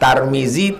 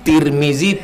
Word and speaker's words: Tarmizi: Cara membacanya 3: Tarmizi, Tirmizi, Turmuzi.